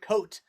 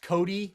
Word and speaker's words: Cote: first people that ever everyone always pronounces it coat but i actually i released an ee uh two years ago now or all this pronounced cody but i spelled it